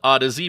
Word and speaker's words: Audeze: Yes, that is how the company name is pronounced, so sorry to all you Audeze nuts memesters out there.